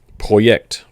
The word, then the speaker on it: Projekt: And because they don't really say J, the Y is going to be, or the J is going to be a yay. So it's Projekt.